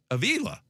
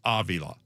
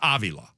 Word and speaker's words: Avila: And then people are like, "Wait a minute, your son's Aila." Like, no, it's Avila. It's Avi law.